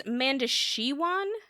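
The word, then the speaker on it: Mondoshawan: Okay, Mandashawan? I think Mandashawan? it's Mandashiwan. It is not spelled that way, Mandashiwan. No, but it's not. but that's what it sounds like they're saying. So the newest priest, Ian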